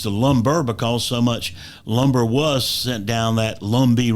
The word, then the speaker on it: Lumbee: Lumber because so much Lumber was sent down that Lumby river that people just began referring to it Lumber they forgot the fact it was originally lumbe or something close to that pronunciation and so North Carolina